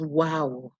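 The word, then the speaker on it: و: And then the last in this set is wow, wow. It makes the w sound. It's usually represented in English by the letter W, and it's in words like witr or wudu.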